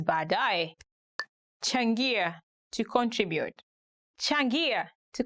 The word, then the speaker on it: baadaye: Today we are going to look at 10 hardest words to pronounce in Swahili. Baadaye, later.